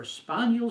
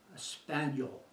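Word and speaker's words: espagnole: as espanol sauce for a spaniel sauce is the quintessence of the purest form of a true brown sauce a spaniel the man repeated its the French pronunciation and spelling of the word Spanish the man slowly spelled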